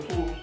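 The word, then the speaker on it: ふ: series में ू जो होता है ू और फू दोनों भी उसका उच्चार होता है या प्रोनाउंस करना पड़ता है य आप ध्यान रखना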